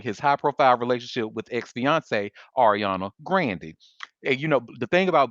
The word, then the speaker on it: Ariana: the public following his high-profile relationship with ex-fiancee Ariana Grande. And the thing about black people, because she has said her name is pronounced Ariana Grande, we just refuse to say her last